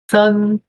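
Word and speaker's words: 三: Mas S-A-N, que é o caractere de 3, né? Sun, sun.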